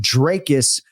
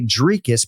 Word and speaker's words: Dricus: But yeah, I go with Dracus on broadcast, and that's how we have gone throughout his UFC career. But some of my colleagues do say Dricus because when you listen to this file, it's open to interpretation.